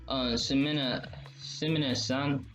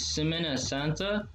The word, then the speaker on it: Semana Santa: Semina San. I hope I'm pronouncing that right. So no offense if I'm mispronouncing it. I'm not. I just heard. What is it? It's Semana Santa.